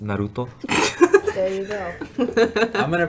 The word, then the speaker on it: Naruto: Correctly pronounced Naruto.